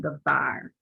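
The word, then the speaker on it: דָּבָר: You realize that I say var, and it's because the soft pronunciation of the bet.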